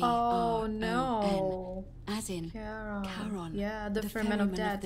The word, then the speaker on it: Charon: It's just as you described it, only your pronunciation is a little off. The name you heard wasn't Karen. It was C-H-A-R-O-N. Oh no. As in Charon.